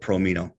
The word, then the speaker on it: Pro Amino: coming out in the united states it's called promeno okay so it's called jack trx is that